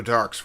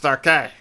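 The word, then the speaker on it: Darke: This knife, it was Joe Dark's, wasn't it? It's pronounced Darkay.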